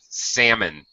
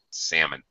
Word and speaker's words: salmon: are commenting about pronunciation yes the L is silent salmon there's no l sound salmon all righton all right